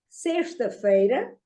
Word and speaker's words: sexta-feira: See, here the spelling, the pronunciation of X is sure. Okay? Sexta, not sexta.